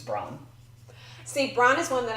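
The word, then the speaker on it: Bronn: is John John okay my number three rhymes with John it's Bron see Bron is one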